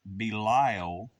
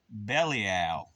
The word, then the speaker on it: Belial: it's pronounced two separate ways uh some people pronounce it belile but but it was actually pronounced bellal in ancient days some a lot of people